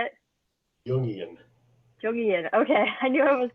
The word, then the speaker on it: Jungian: Jungian.